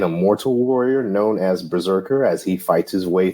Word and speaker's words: BRZRKR: intro today is eight Berserkers berserking which means we're unwrapping foreign number one from boom studios in 2021. now for a brief history of this series and the creators Berserker which is spelled b-r-z-r-k-r is a comic book